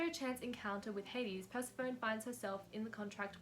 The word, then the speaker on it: Persephone: i do realize that i just said purple instead of persephone don't ask me why i pronounced it as such um i do in fact know that it's meant to be persephone except for some reason